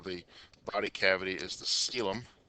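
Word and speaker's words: coelom: The the formal term for the body cavity is the sealum. It's not pronounced coalum or seolum. It's pronounced like sealum.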